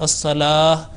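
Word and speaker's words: الصلاة: Again, on the word as-salah, again here the ta has been pronounced, which should be not be pronounced in waqf, because in this is called ta-e marbuta, connecting ta, and when making a waqf, it should not be pronounced. It should be pronounced like that, as-salah.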